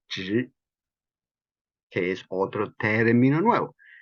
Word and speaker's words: zhi: ting, como parar, y zhi, que es otro término nuevo. Entonces ese es Z-H-I, zhi, y la lengua se dobla hacia arriba. La lengua se dobla hacia arriba cuando se pronuncia zhi, zhi, zhi, zhi, zhi,